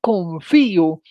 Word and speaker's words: confío: diptongos y los hiatos, puede ser confió, y en ese caso estamos hablando de de un diptongo, o puede ser confío, y en ese caso estamos hablando de un hiato. El primero lleva tilde por tratarse de una palabra aguda terminada en vocal y el segundo lleva tilde por tratarse de un hiato con acento en vocal cerrada.